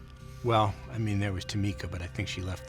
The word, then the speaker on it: Tzimisce: And as I get to the door, I'll turn, look back at Julia, and say, oh, by the way, it's pronounced Tzimisce.